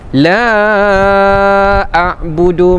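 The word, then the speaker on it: لا أعبد: Kemudian a'budu hamzah ini pada pangkal kalimah berikutnya. Jadi dia adalah dua kalimah yang berbeza. Jadi hukumnya mad jaiz munfasil. Tapi cara bacaannya dibaca empat harakat juga. La a'budu maa ta'budun.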